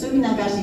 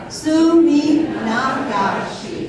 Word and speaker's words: Suminagashi: It's Suminagashi, so if you don't say it right, I will sue you. You want to follow me to say it? Suminagashi.